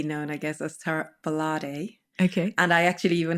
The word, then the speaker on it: Gbolade: So I married a Yoruba man. So even I had to learn the pronunciation, which is Gbolade. Yeah. That is the pronunciation.